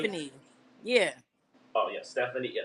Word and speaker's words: Ste Funny: Steve Funny. Is it Steve Funny? Stephanie, like Steph Funny? Stephanie.